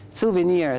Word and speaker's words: souvenir: souvenir souvenir very good of course it has got another pronunciation you can say souvenir I mean you can put the stress on the first or souvenir uh when